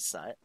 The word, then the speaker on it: OSUT: We're all here to sit through an OSUT class together and laugh that I pronounce it suit instead of sut because I embrace my inner Canadian.